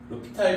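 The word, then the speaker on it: L'Hôpital: 얘가 이제 이거를 로피탈 정리를 썼다 그래서 h를 써요. 사람이 이제 프랑스 사람이라서 H가 H로 시작하거든. 이름이 H는 묵음이라서 이제 표시가 안 되는데.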